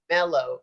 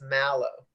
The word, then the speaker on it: mallow: But it's not mellow, it's mallow. Oh, so it's spelled different. Yeah, MALLOW.